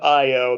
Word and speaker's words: IO: We call the band IO. That's how you pronounce it.